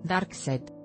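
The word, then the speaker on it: Darkseid: punto mx dark side el nombre de este conocido villano de dc se pronuncia exactamente igual al lado oscuro de star wars dark set imagen 1811 diapositivas copyright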